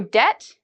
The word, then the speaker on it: debt: rule but in general if you see B and T usually you do not pronounce the B okay so debt I've heard many students